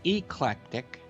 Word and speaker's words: eclectic: has a style that is eclectic which rhymes with electronic kind of pop avant-garde